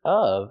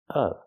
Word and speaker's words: of: pronounced fan of baseball the word of is pronounced with a short uh sound like cup and up not o like no and go not o but of of I'm a fan of of remember the short sound